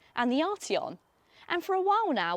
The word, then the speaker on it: Arteon: And you might think that I would have picked something really fast or really expensive, like an Arteon or perhaps a Golf R.